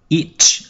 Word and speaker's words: each: Chúng ta có từ each ở câu đầu tiên. Các em hay vẫn đọc là x là không có đúng, phải đọc là each, có âm chờ phía sau nhé.